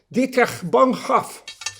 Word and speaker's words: Dietrich Bonhoeffer: Hagámoslo bien pronunciado. Dietrich Bonhoeffer.